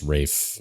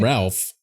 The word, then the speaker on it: Ralph: I think it's actually pronounced Rafe for what it's worth. Oh, wow. Nice. I mean, it's spelled Ralph.